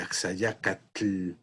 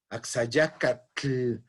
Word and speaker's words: Axayácatl: una tele final como axayácatl no un amigo axayácatl en españa le llaman axa ya que es más fácil pronunciar el dt que te l tengo de hecho algo algunas